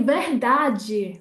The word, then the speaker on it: verdade: So also in Portugal, we would say the word verdade with a very closed E at the end there. I'm going to go on to explain what that is. And in Brazil, they will say verdade, verdade. So it's almost like a whole other syllable that they put on there.